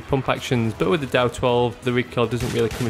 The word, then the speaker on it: DAO-12: at today is the da2 or dow2 as it's usually pronounced this weapon is also